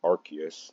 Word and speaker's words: Arceus: I just pronounce it Arceus. That's how the anime does it.